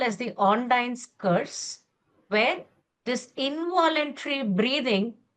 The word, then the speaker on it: Ondine: of the disorder which we call as the ondine curse where this involuntary breathing becomes a voluntary breathing for these people.